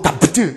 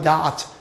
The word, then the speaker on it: doubt: 여러분들 이게 B가 묵음이야. 그러니까 이제 no doubt 이게 아니라 no doubt 이렇게 됩니다.